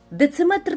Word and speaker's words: дециметр: Наголос в кінці на метр, міліметр і сантиметр. Дециметр так само буде.